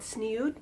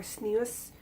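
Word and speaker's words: tzniut: The idea of modest dress is called sniut or snius, depending on your pronunciation.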